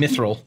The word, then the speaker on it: mithril: is a bathtub concoction it's pronounced myth um mithril mithril um i'm gonna say